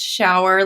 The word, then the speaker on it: Schauer: my name is shower and if you're seeing it written it is pronounced shower like a rain shower um and i have